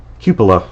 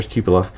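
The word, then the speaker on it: cupola: Copa and the uh, cupillaa, sorry, commander cupula. I finally figured out the right way to pronounce it or it was told the right way to pronounce it in terms of a medieval pronunciation.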